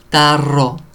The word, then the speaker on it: tarro: So be careful with your R's. Caro, carro. Tarro, tarro, tarro.